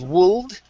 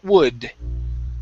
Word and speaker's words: would: The L in this word is silent. Instead of wold, it's wood. Wood.